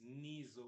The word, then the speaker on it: Niso: jokes about that, but it's Niso with the N, so I'm going to spell it every time. So would you say that it's pronounced with a Z more than an S? Yes. So it's Niso.